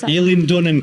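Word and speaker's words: Eilean Donan: Aileen Donan Castle.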